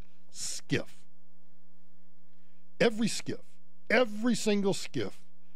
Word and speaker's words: SCIF: special compartmentalized information facility SCIF pronounced skiff every skiff every single